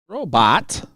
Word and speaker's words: Robot: Mr. Robot, with the way it's spelled. Robot. Like pivot.